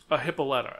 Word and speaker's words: Hippolyta: Is it Hippolyta or Hippolyta? Hippolyta, actually. But okay. Hippolyta is the correct pronunciation.